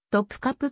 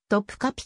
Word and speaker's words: トプカプ: 丘に位置するトルコ語の発音に忠実な日本語表記はトプカプ宮殿であるが日本語ではしばしばトプカピ宮殿と表記されることがあるトプカプ宮殿と呼ば